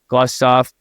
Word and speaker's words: Glustoff: I just really want to thank Ethan Glustoff. Don't say it wrong. That's how you say it.